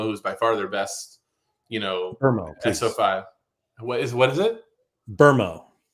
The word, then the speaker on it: Mbeumo: that is that the Premier League put out like a pronunciation video, and I had watched his like 5 times because I was like, "Is he saying Burmo?" And I was like, "He is saying Burmo."